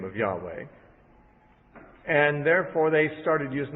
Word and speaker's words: Yahweh: They usually pronounce it Yahweh, but it may not even be the correct pronunciation.